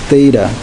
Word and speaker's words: Theta: I'm writing uh this is uh this is pronounced as Theta this is a Greek letter so I am